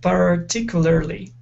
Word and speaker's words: particularly: you said particularly now we do want to pronounce an r sound saying par particularly instead of per par okay particular particularly okay now with the